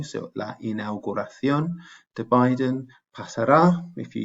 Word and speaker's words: inauguración: Remember I said inauguration, T-I-O-N in English, almost always C-I-O-N in Spanish with the accent on the O. So la inauguración de Biden.